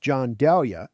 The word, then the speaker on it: Gianduja: Gianduja, pronounced John Dahlia, is an exceptionally smooth,